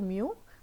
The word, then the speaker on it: mu: First one was mu, pronounce कर रहे थे mu, mu.